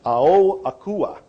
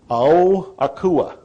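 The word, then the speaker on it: Ao Akua: what it is but it's oh akua he's not correcting me so I guess I said it all right a-o-a-k-u-a oh akua now when I asked him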